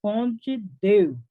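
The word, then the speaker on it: Conde d'Eu: e o seu genro, Conde Du, parcialmente surdo, casado com a princesa Isabel. Alguns aqui falam a pronúncia Conde de, porque é francesa ali, então pronuncia aí como você sabe, tá?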